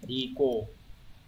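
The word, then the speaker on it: 利口: Từ này đọc là riko.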